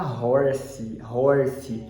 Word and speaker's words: horse: Esse aqui todo mundo fala horse, mas não tem esse I no final. A pronúncia final vai ser do S.